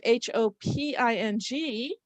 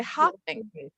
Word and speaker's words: hoping: E was dropped and I have HOPING, and kids will look at that and say hopping. No. But let us notice as we go to encode these words, let's notice that a single vowel before the single consonant is long. So we have hoping, not hopping, right?